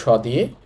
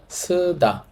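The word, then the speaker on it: 쓰다: আগেই বলেছি স লিখবো স দিয়ে, উচ্চারণটা হবে সয়ের মতো। তাহলে এই শব্দটার উচ্চারণ হবে সুদা, সুদা। এবং মাইনাস চিহ্নের মতো যে বর্ণটা আপনারা জানেন, সেইটা মুখ চ্যাপ্টা করে বলতে হয় সুদা।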